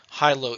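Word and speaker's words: HiLo: comes with subglottic suction they are commonly called high low ET tubes and that's spelled h-i-l-o the majority of intubations at UMC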